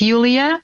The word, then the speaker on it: Yulia: It's Yulia, but it's the same with Julia, and many other versions.